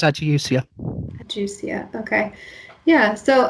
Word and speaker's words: ageusia: Uh, yeah, it's Adiusia.